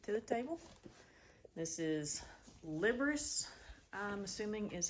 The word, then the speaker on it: Liberace: This is Liberace, I'm assuming is how this is pronounced. Liberace. Liberace. Liberace. Yeah, so that's Liberace, not Liberace.